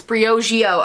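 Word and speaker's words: Briogeo: that's Hugh pronounced it is it Breo Geo I'm saying it right it's Brio Geo okay Bri Oh Geo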